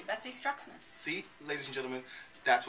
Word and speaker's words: Betsy Struxness: say your name darling you said it correctly Betsy strus see ladies and gentlemen that's what her name